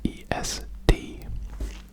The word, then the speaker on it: est: So for tu es it's es, and for il and elle it's est. Yeah, that is the problem with French, is all the silent letters.